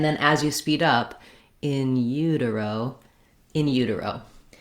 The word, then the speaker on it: in utero: Another strategy I suggest for anything that has something other than first syllable stress is to start on that stressed syllable. That would sound like utero, in utero.